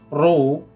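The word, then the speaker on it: ρ: padat tadi yang lalu row bacanya roh ini massa jenis satuan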